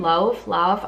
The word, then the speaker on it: Lauv: I think that's how you say his name, Lauv, I'm not sure.